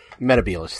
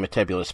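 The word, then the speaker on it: Metebelis: has to happen and Mehta Beale is 3 is how it's actually pronounced to me I'm only saying meticulous because uh there was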